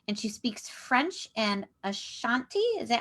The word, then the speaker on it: Ashanti: And she speaks French and Ashanti.